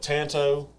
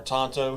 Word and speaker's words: Tanto: Tip doesn't, but Tanto or Tonto, however you want to Tonto?